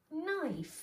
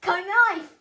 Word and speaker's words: knife: okay don't we know let's try the pronunciations the first word is knife the knife ah why are you keeping sailing like that i don't know it says come knife it says knife right here he has a